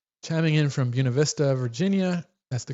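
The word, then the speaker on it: Buena Vista: We've got uh Uncle Voodoo chiming in from Buunav Vista, Virginia. That's the correct pronunciation, by the way, folks.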